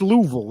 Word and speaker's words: Louisville: I travel a lot so it's Louisville it's too it's it's two syllables Louisville yeah that's basically it